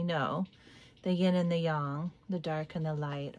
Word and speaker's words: yang: It's pronounced yang, not yang.